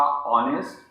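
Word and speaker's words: honest: जब हम इन्हें देखते हैं तो इन सबका पहला लेटर एच और वाई जो है वो साइलेंट रहता है।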